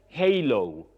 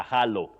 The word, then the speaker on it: halo: Then halo. Halo. For h a l o. Halo. That is not greeting. That is that ring that sometimes is painted or drawn round you know a holy person's head. You call it a halo not a hollow.